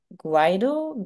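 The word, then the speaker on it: Guaidó: Well, you yourself were ambassador of the Guaido government. Is pronunciation correct?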